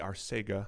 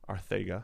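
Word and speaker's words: Arcega: season greg ward jj arsega whiteside say it properly please arthega there you go whiteside john hightower quez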